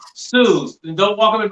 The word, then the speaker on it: Suze: So, and make sure you say it's pronounced Suze.